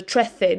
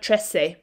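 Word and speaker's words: trece: the in english so trethey not tressay although you will hear some people say tressay if you're in south america for example they don't the uh the soft c sound so brilliant right let's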